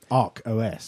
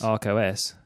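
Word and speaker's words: Arkos: It's not Archos. Not Archos, in the thing that Stuart Langridge keeps banging on about. But Arcos, A-R-K-O-S. Okay. Arcos. Arcos.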